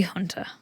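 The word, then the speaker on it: junta: And then we have, have you ever heard of a military hunter? No. Hunter. Hunter. It's pronounced, it's spelled J U N T A, but it's pronounced Hunter.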